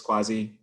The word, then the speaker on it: Kwasi: this conversation um so my name is quasi in case you were wondering how to pronounce that um so i'm based